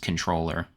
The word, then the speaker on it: comptroller: Brad Lander, the former comptroller of New York City, um it's a finance-related position, um similar to being uh an elected treasurer. It's spelled comptroller, but pronounced controller.